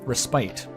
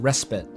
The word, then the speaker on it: respite: ] up forever cuz I thought it was um resite and then I I said it out loud once in a presentation and my English teacher at school corrected me he said that's pronounced respit cuz I think it was